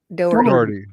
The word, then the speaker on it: Dougherty: So How do you pronounce Doherty. Doherty. Doherty.